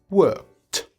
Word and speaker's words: worked: Donc, en fait, après un son de consonne sans vibration, le ED se prononce T, comme le mot work, work, K, K, K. On dira donc worked.